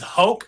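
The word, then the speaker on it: Roger: This is Hoke Gracie. That's R in Portuguese. Gracie. Yes, in Portuguese, we pronounce that with an H.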